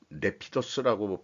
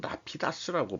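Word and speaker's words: Rapidus: 된다고 생각을 하고 싶습니다 영어로는 제가 내피더스라고 발음을 하는데 이제 일본 사람들은 라피다스라고 발음을 하는 모양이에요 그것도 번역도 그렇게 하고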